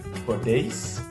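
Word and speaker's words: podéis: vos ça va êtreis attention l'accent tonique sur le E parce que le la terminaison suit une une voyelle une voyelle ou un petit pe donc suit une voyelle donc podis et là le O va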